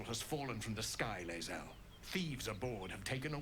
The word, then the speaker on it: Lae'zel: Lae'zel, okay, so spricht man aus. Okay. Lae'zel.